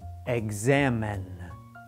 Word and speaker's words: examine: words examine and exit we have vowel sounds after the letter X so we pronounce X like this exam but if an